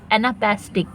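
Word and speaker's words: anapestic: एना पेस्टिक एना पेस्टिक तो एना तो है अनस्टेश द फर्स्ट टू अनस्टेज एना पैस एना पैस और टिक जब हम टिक बोलेंगे तो लग रहा है जोर तो ये स्ट्रेस है तो पहले दो अनस्टेश और फिर स्ट्रेस ठीक है नेक्स्ट है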